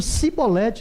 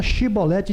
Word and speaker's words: chibolete: Eles diziam cibolete, não era chibolete, diziam cibolete.